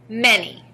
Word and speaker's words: many: m a n y in this word the letter a stands for the short e sound e the letter y stands for the long e sound e now let's blend